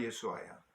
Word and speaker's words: 예수아: 여호수아를 히브리 유대인들 식으로 발음하면 예수아입니다. 예수. 구약의 예수가 예수아야.